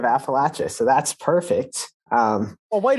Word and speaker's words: Appalachia: Yeah, so I did not know that's how you pronounce Appalachia, but forever now I will just think about throwing apples at people when I think of Appalachia.